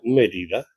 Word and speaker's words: Mérida: No, suena muy bien, suena mejor que Mérida, porque Mérida suena violenta, tiene el acento en la primera vocal, entonces tiene un énfasis